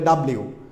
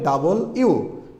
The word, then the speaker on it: W: এই শব্দটা আমরা ছোটোবেলায় বা অনেকেই শিখছে বলে ডাব্লিউ, কিন্তু এটা ডাব্লিউ হবে না, এটা হবে ডাবল ইউ। এখানে লেখা আছে সুন্দর করে, সাউন্ডস লাইক ডাবল ইউ।